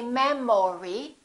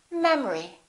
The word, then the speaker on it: memory: second syllable is reduced the first syllable is stressed we don't say memory we say memory repeat after me memory